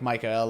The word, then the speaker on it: Michel: call him I know it's pronounced like Michel like the angel but I don't want